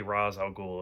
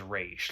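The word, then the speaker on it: Ra's al Ghul: piss me off because they only say raw's al ghul and i'm like that's not his name and so like i think batman is one of them that he says race like he knows how to say the name so i i like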